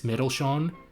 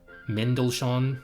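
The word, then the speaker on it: Mendelssohn: We've also got Spring by German composer Felix Middleshon. Menshon, sorry, I vaguely pronounced the N, but I just thought you needed to hear it again.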